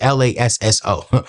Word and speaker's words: Lasso: So using a service like the Laso it might be the Laso. I need to actually know how to pronounce the name. It's Lasso.